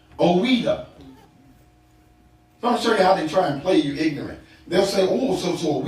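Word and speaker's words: Ouidah: The Portuguese could not pronounce Ouida, so they called it Juda, because of their inability to say Ouida, as the French had named it.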